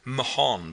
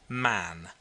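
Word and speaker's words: Mahon: his name was was Mahan but he insisted that it should be pronounced man he was well connected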